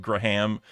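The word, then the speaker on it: Gram: But uh in the US you you would just say graham like a graham cracker.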